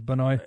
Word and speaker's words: Benoit: No, it's Benoit. Yeah, it's Benoit. It's spelled.